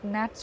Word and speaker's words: gnats: He warned that uncovered wounds would be attacked by gans or gnats, or you pronounce it as gnats only, G is silent, by gnats and flies, and irritated by sweat and dust.